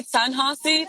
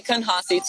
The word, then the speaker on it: Canhasi: So I say Canhasi, but you can say Canhasi too. No, I'm gonna say it how it's pronounced.